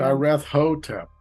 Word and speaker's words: Nyarlathotep: I always thought it was Nyarlathotep. Hotep. You got to emphasize the hotep on the end. Nyarlathotep.